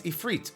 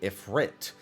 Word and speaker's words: Ifrit: Hi, hey, I noticed you pronounce Ifrit a certain way with an emphasis on the second syllable. I've been pronouncing it with an emphasis on the first syllable with Ifrit.